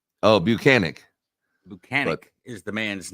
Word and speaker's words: Bukhenik: not it's uh bukinik and he's from Russia oh banic banic is the man's